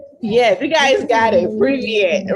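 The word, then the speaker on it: Привет: Privyet, right? Privyet.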